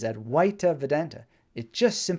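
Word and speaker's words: Advaita: that's what advisor means at white properly pronounced I believe is at white Vedanta it just simply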